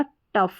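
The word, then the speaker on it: tough: तो यह हो गया टफ। टफ का मतलब होता है कठिन। नेक्स्ट है सी। सी का उच्चारण क रहता है और सी को हम स भी पढ़ते हैं।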